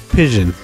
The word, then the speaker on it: Pision: We're going to pronounce it as though it was fission with a P. Pision.